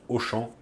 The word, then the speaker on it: Auchan: faisais mes courses et là-bas on prononce auchamp à Auchan ça c'est juste pour